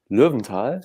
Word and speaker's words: Lowenthal: I'm speaking with Richard Lowenthal, who has German roots. So I'm pronouncing it in a more German way.